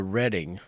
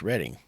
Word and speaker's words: Reading: But it is pronounced the Reading Terminal Market. Reading. It's pronounced Reading.